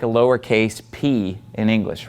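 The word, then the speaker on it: π: we have the letter P you probably again learned this in math as Pi but in Greek it's pronounced p P okay let me draw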